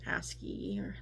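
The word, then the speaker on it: ASCII: aspect but we did already cover binary and asy that's how you say it and things like that.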